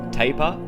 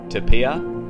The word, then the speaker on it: tapir: such an elusive creature there's a few different ways to pronounce table which may confuse people you can say tapir to Pia Tapia or tapir either one of these is correct evidence wow that is